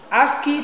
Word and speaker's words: ASCII: other one we have a ASCII ask key to represent a letter A American Standard code for information interchange that is asking a s c i i pronounced as ASCII now they have their